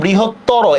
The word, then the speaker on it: বৃহত্তর: কিভাবে ক দেখেন একটু, এখানে বৃহত্তর, এখানে কিন্তু একটা অ আছে লাস্টে, ঠিক না?